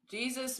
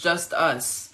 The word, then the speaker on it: Jesus: Jesus means the fellow workers of the kingdom of God. That's in Colossians 4:11. It it actually pronounces just us. It's not pronounced Jesus.